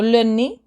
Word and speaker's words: le nez: So don't forget, EZ is E. You don't pronounce the Z. So le nez.